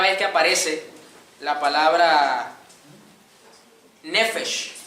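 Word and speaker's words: נפש: Es la primera vez que aparece la palabra nefesh, la palabra hebrea, N-E-P-H-E-S-H, con acento en la E. Nefesh o nepesh, no sé, perdóneme la pronunciación, no hablo hebreo, a duras penas hablo español.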